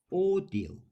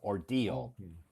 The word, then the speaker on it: ordeal: okay uh next one oral oral oral yeah the emphasis is on the second syllable oral six the Sy is the stress right oral oral the word